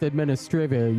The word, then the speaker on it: Administrivia: You say it with Administrivia, you say it like that, and it sounds like it's a Euro game.